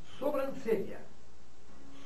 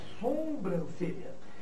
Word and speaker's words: sobrancelha: Atenção, não existe a palavra sombrancelha. Isso aqui não veio para dar sombra dos cílios, não. Tá claro? Está sobre os sílios. Vem do latim supercílio.